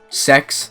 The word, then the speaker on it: CeX: a place called like um sex that's spelled with cex by the way it's